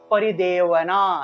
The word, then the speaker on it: परिदेवना: ভারত অব্যক্তধানা ঠিক আছে এটা হলো অন্তস্তব সবসময় মনে রাখবেন সংস্কৃত ভাষায় বেশিরভাগ বই হলো অন্তস্তব সেজন্য পরিদেবনা এভাবে উচ্চারণটা আসবে ঠিক আছে তা শিক্ষার্থীরা